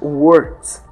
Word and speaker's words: words: Para pronunciar a palavra words, você dá uma ênfase no R no meio da palavra e dá uma pausa na letra K. Então fica words.